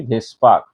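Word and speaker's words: VSEPR: Pair repulsion theory বা ভেসপার theory, যেটাকে pronounce করা হবে VSPR, এই যেটা আমি মুখে বলছি ভেসপার এইরকম করে।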